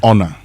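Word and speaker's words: honour: Honor.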